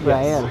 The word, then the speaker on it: Rael: And it's not, and it's Rael, and it's pronounced Rael.